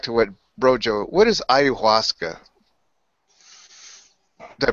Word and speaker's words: Ayahuasca: Okay, well, just to dovetail it back to what Brojo, what is ayahuasca? Did I pronounce it right? Ayahuasca.